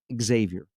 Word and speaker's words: Xavier: Gary, there's no way that anyone told you to say Xavier. No one said that. That did not happen. I don't say it egg. That's just kind of how it sounds. I pronounce it Xavier.